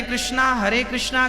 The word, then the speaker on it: कृष्ण: इसलिए हमारे यहां जो महामंत्र है उसमें दोनों का युगल नाम है, हरे राम राम राम हरे हरे, हरे कृष्णा कृष्णा कृष्णा दोनों का नाम है।